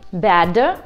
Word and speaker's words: bad: не носители английского языка, это приглушение звонкой согласной в конце слова. Возьмем два слова: bad и bat. Чаще всего мы их произносим одинаково: bad. Но в слове плохой, bad, есть звонкая согласная d. Ее нужно произносить, ребят.